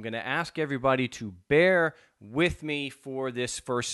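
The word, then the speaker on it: Bexar: these are uh two orders from court in Bear County you see I remember how to pronounce it's it's spelled b x a r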